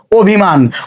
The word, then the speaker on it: অভিমান: অভিমান, অভিমান শব্দে একই রকম উচ্চারণ হবে ওটার মতোই, তাহলে এখানে আমরা ও লিখলাম, তারপরে ভয়ের রস্যইকার ভি, অভি, ময় আকার, দন্তন্বয়ে হসন্ত, অভিমান।